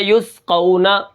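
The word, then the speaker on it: يسقون: سب سے پہلے دیکھیں یا سین پیش یس، ٹھیک ہے، قاف واو زبر قو یس قو، نون زبر نا یس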